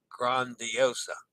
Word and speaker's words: Grandiosa: Pronounce your A as an open A as in father. Grandiosa. Grandiosa. Rhymes with fawn.